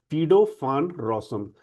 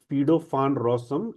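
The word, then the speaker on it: Guido van Rossum: when rosom but uh when we talk about a Dutch name so this will be pronounced as fido rosom. So python was invented by a Dutch programmer fedofan rosom in netherland in 1989.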